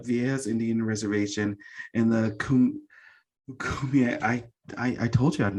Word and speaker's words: Kumeyaay: Originally from the Viejas Indian Reservation in the Kumeyaay. I told you I did not pronounce it right. It's okay, Kumeyaay. It's all right. No one gets it right the first time. Kumeyaay, yeah.